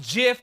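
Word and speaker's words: GIF: looping the sky like a jiff it's pronounced jiff as the cause as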